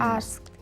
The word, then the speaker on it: asked: Asked. With the T sound.